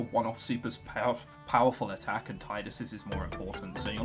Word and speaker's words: Tidus: We find Tidus later on. Yes, I say Tidus, not Tidus. It doesn't really matter. The official pronunciation is Tidus, supposedly. I said it like Tidus, so we're working with that.